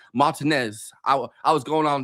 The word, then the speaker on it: Martinez: It's spelled like Martinez, but we pronounce it Martinez to sound pretentious. Not R just R. I don't know. But we're like a classic Georgia accent. You can say Martinez.